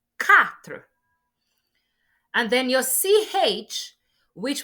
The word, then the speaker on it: quatre: Your Q will not be pronounced as Q, like queen in English, but it will be pronounced as K. That's why the second example after your cat is quatre, not quatre. No, it is quatre.